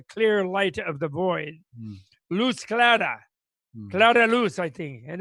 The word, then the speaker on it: luz clara: Luz clara. Clara luz, I think, in Espanol, no? No se dice. Luz clara, Luz sí. clara. But the emphasis there is on the clara, not the luz.